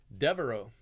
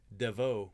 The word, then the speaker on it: Devoe: Devereaux. No, Devoe, not Devereaux. There's no R in there.